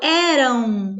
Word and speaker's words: eram: Eu falo eram, como se tivesse um U no final.